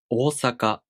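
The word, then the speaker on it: 大阪: mistakes japanese learners make one of the common mistakes in pronunciation of the long vowels is that they don't pronounce them long enough for example the word osaka if you don't pronounce the long vowel for a duration of one more it sounds like osaka osaka so it's important to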